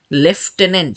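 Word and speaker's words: lieutenant: দিয়ে মনে রাখেন আমিও ওইটাই মনে রাখছি যে লেফটেনেন্ট এটার উচ্চারণ কিন্তু লেফটেনেন্ট তো লেফটেনেন্ট যদি একটা ছন্দ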